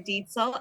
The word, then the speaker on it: Diel: pronounced your name wrong no you were pretty close and thank you for having me that's deel and I too was